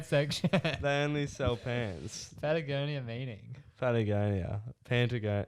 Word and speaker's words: Patagonia: a lot of questions i'm pretty sure it's pronounced patagonia yeah what have i been saying there's no n what have i been